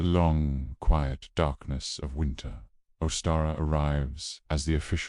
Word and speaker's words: Ostara: It's called Oara, pronounced Oara, and it's one of the most beautiful, hopeful days on the wheel of the year.